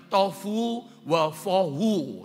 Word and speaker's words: tohu wabohu: itu disalin dengan kata tohu wabohu. Atau ada orang membacanya tofu wafohu, saudara ya. Tohu wabohu, biasanya kalau kami baca.